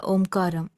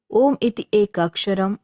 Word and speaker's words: om: Mantra it is said Omar Brahma this single syllable word om is itself the Divine principle it comprise three sound a u and M um constant and sustained